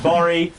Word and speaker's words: Gborie: DLO, Jenny Yang, and David Borie. Spelled Gbori. Gor Gori. The G is silent.